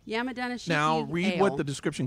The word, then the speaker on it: Yamadanishiki: Yamadanishiki. Yamadama ding dong. No. Yamadanishiki.